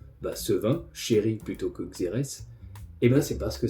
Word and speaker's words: xérès: Mais en français, on dit xérès, comme dans vinaigre de xérès, ou rérès si on prononce à l'espagnol.